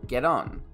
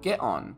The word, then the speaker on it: get on: Shawn Mendes is Canadian, so he pronounces the T between two vowels with a soft D sound, get on, the same way Americans and Australians do. Brits, however, would pronounce it get on with a glottal T sound.